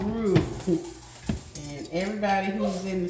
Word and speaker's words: roux: It's called roux. And everybody who's in the South understands this is the roux. You know, roux rhymes with poo.